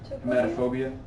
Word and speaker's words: hematophobia: How do you say the Hematophobia? Hematophobia. I got that. Yeah, it's like hemoglobin, heat is blood.